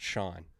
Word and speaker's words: Chone: Oh, apparently it's pronounced Shawn.